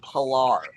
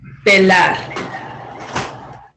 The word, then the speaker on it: pelar: Pilar. yes. So, but what would be the proper pronunciation, do you think? The pronunciation would actually, he was very close. It would be pelar.